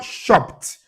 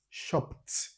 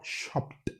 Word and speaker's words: shopped: So when we add ed to it, the letters ed would be pronounced as T, shopped, not shopped. No, shopped.